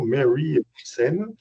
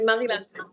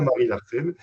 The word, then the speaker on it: Marie Larsen: publique et un podcast Marie Larsen. Alors peut-être qu'il faut le prononcer avec l'accent Mary Larsen. La magie de Non non, c'est Marie Larsen. C'est bien Marie Larsen qui sortira le 17 avril prochain.